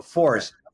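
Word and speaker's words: FORSE: So FORCE, F-O-R-S-E, is the acronym for the Foundation for Recovery Science and Education.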